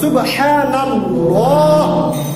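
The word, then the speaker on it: سبحان الله: আসতেছে কি জবর ডানে কি আসতেছে জবর তাহলে সুবহানাল্লাহ সুবহানাল্লাহ উচ্চারণটা সঠিক আপনি সুবহানাল্লাহ বলতে হবে স্পষ্ট ভাবে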